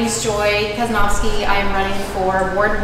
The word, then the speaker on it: Casnovsky: name is joy uh my last name is just as it's spelled talking about talking about school kaznovsky if you want to